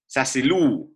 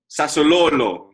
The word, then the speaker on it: Sassuolo: Here We Go, Fabrizio has tweeted, Sassilulu, I don't even know how to pronounce the fucking Sassuolo. Sassuolo, yeah.